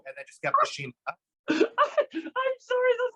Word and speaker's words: Shima: But the first couple of times when I went by Shima, they were starting to pronounce it Shima. So Shimmer.